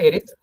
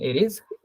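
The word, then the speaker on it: Aries: English name क्या है इनके, मेष को बोलते हैं एरिस, हिंदी में आ रहा है, एक सेकंड, इसको बोलते हैं एरीज।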